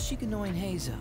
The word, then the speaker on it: Shikanoin Heizou: The name's Shikanoin Heizou.